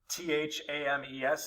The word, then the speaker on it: Thames: battle of the thames t-h-a-m-e-s is pronounced thames tecumseh is among the